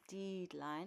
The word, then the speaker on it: deadline: It's not deadline, it's deadline. And the reason being is because we don't pronounce the A in the word dead, okay?